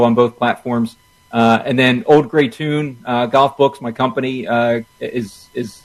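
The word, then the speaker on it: Auld Grey Toun: And then Old Gray Tune Golf Books, my company, is if you find me on there, you can find the link to the website.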